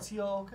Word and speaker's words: Koch: And it's Cook. yeah. Cook. It's Cook. Yes. Pronounced Cook, people. It's not Coke, not Koch, not other things that you are thinking right now.